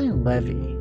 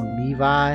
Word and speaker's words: Levy: Why Levy? Shouldn't be pronounced Levi?